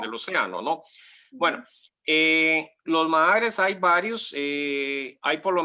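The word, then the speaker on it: Maar: Sí, los mahares, que es una palabra, mahar se escribe con doble A para que no confunda el público. Con doble A es un término alemán que significa lago volcánico, con doble A, o sea, mahar.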